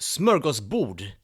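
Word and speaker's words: smörgåsbord: to fulfillment now the idea of smokers board actually originates in Sweden pronounced smokers booed in Swedish okay and in case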